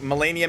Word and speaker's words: Melania: straight up call that melania mode i don't think you can find a word to describe its difficulty so call it melania mode it rhymes with mania so like melania mania ooh that's also